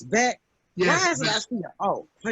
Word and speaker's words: Boek: Boek? Beck. It's Beck. Yes. Why is it I see it? Oh, wait a minute. Hold on. B-O-E-K, but it's pronounced Beck.